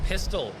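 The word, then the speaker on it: Pistil: The name of our game is Pistol. That's spelled P-I-S-T-I-L, not like the gun.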